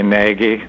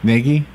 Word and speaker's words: Nagy: Oh, most people just say Nagy with the hard G and the hard A. Okay, and that's right? Nagy?